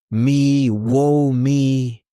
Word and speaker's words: miło mi: pronounced miło mi.